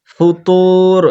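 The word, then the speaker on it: فُطُورٍ: পুর করতে হবে ফুতুর ফা এর উচ্চারণ হবে উপরকার দুই দাঁতের আগা আর নিচের ভিজা অংশ নিচের ঠোঁটের ভিজা অংশ লাগাতে হবে দিয়ে বলতে হবে ফু ফু হবে না হ্যাঁ ফু ফুতুর হবে না ফুতুর ফুতুর এটা হবে না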